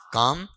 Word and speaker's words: calm: बताओ ये उच्चारण क्या? बताओ, बोलो। अब पढ़ देना, देखिए यहां से पढ़ देना क्या है? काम।